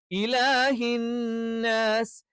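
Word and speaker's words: إِلَٰهِ النَّاسِ: ശ്രദ്ധിച്ചാൽ മതി മലിക്കിന്നാസ് അടുത്തത് ഇലാഹിന്നാസ് ഇലാഹി ഇ അതേപോലെ തന്നെ ഹ ഹ ഇനി ചില ആളുകൾ ചിലപ്പോൾ ഓവർ ആക്കിയിട്ട് ഇലാഹി എന്നൊക്കെ പറയും അതൊക്കെ തെറ്റാണ് ഇലാഹിസ് ഇ കറക്റ്റ് ആയി ഉച്ചരിക്കണം ഇയും എന്ത്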